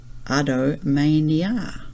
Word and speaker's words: adomania: It's from the Italian adomani, which is until tomorrow, and mania, pronounced adomania.